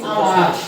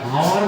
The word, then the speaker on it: hour: আমরা যেরকম বলি আওয়ার, এইচ ও ইউ আর, আমার অর্থ কি ঘন্টা বা সময়, তাই না? আমার অর্থ কি ঘন্টা বা সময়। আমরা কিন্তু এটা হাওয়ার বলি না, হাওয়ার বলি কি না, বলি আওয়ার।